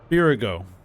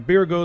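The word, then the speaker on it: Byregot: well there's somebody now I believe this is actually pronounced beer ago um beer go the Builder here we go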